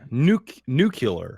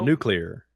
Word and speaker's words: nuclear: much either yeah yeah nuke new killer no nuclear clear nuclear I've heard people pronounces often